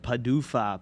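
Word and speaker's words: PDUFA: say on that side uh pronounced padufa padu padufu padufa thank you padufa p udfa padufa microsoft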